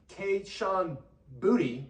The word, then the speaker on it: Kayshon Boutte: You're going to see Kayshon Boutte, which I believe is how you say his name.